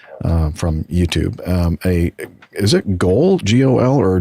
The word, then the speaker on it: GOL: Is it GOL, G-O-L, or G, or how would you, is it pronounced GOL? Like GOL? Yeah, like on a football pitch or no field.